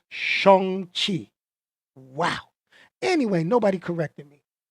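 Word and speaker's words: Shang-Chi: theaters only shong chi i've been saying shane chai my whole life his name if the correct pronunciation is shong chi wow anyway nobody corrected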